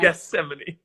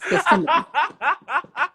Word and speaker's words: Gethsemane: know, except I need to know how to pronounce it again. But, Gethsemane. Yes, the teacher said it, and I can't remember how. Yes, Gethsemane.